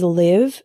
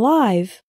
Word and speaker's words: live: Another example is live and live. Live with the same I as in sit means to reside.